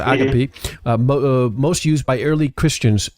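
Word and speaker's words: ἀγάπη: Are you aware that the ancient Greek word agape, or agape, pronounced agape, most used by early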